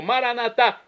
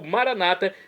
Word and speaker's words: Maranatá: E agora eu clamo Maranatá, como dizemos nós católicos, ou maranata, como dizem nossos irmãos separados das comunidades evangélicas ou protestantes. Não importa a pronúncia, o significado é o mesmo.